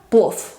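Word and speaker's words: плов: La V se pronuncia F. Por ejemplo, plov, que es un tipo de arroz. Plov, plov. No plov, sino plov.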